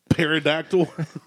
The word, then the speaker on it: pterodactyl: tea is definitely no but the p is silent pterodactyl oh man WYA we